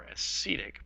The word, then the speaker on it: acetic: So this acid right here would be known as acetic, or acetic, pronounced more correctly, acid.